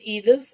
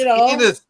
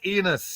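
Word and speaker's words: Enos: But some pronounce it Enis. I don't know. It's Enus. E N O S. Enus.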